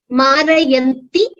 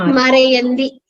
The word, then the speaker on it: मारयन्ति: You have to consciously pronounce it clearly as Marayanti and not Marayandi.